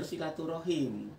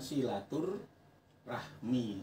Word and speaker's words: silaturahim: Jadi bahasa Indonesia serapan itu biasa diucapkan dengan silaturahmi. Rahmi itu aslinya kalau dalam bahasa Arab itu adalah wadah anak kui. Tapi kalau rohim itu saudara. Jadi kalau menggunakan bahasa Arab yang benar ya silaturahim.